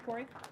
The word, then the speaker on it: Kaare: Thank you, Corey. Hello? So As Dana mentioned, my name's Corey. For you non-Scandinavians in the crowd, I assure you it's pronounced Corey.